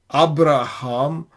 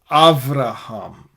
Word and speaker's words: Abraham: I think it is pretty possible that Beth without the Dagesh is pronounced like this. And so that sort of solves the problem of Abraham versus Avraham. Abraham as suggested by Trump, Avraham as suggested by Netanyahu.